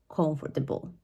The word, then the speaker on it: comfortable: here um is the word and this is pronounced as comfortable now the mistake here often is about where